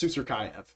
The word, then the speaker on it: Susurkaev: It's Susurkaev. I've been saying it wrong this whole time.